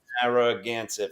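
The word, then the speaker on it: Narragansett: It's nar, not narang. There's no n before. Naret. Naragansit. Narroance. Okay. Narroagansit. Four syllable. Naranset. Narroaganset.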